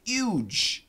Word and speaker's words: huge: i g n TI interestingly the word huge many Americans actually say huge and they do sometimes in the UK also huge huge uh without the H but I do recommend the H sound huge then we have